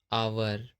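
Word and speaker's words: hour: जब ओ से पहले एच आता है तब हमेशा एच साइलेंट होता है। जैसे ऑनर, ऑनेस्ट, आवर, इको।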